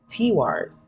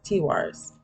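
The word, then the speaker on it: Tiwaz: it does say that the pronunciation is tea Wars T Wars and the translation is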